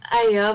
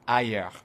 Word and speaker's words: higher: died at rates higher than those who didn't. Elle dit ailleurs, mais en fait c'est higher. Il faut bien prononcer le H, higher, et le R à la fin, higher.